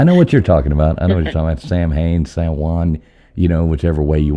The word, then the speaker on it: Samhain: I know the Muggles call it Samhain, so I figured I'd say it that way. But it's actually pronounced Samhain.